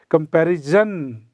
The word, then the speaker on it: comparison: 99% लोग in India, they pronounce this word as a comparison. But this is not jan, it is sun. There is no j sound, it is sa sound.